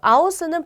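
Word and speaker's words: aus: 아우스는 밖으로 란 뜻이에요. 영어의 out과 발음이 비슷하죠. 아우스.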